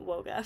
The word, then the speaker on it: WOGA: um but we're going to be calling it woga for today in July 2023 she confirmed on